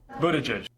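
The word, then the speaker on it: Buttigieg: so it's not Pete Buddha judge Pete Buddha judge Pete Buddha judge it all boils down to the vowels Buddha judge the vowel in the first syllable is not like boo but like book o book and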